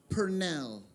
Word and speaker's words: Purnell: Mattie, M-A-T-T-I-E, Purnell. P-U-R-N-E-L, I believe is how it's spelled.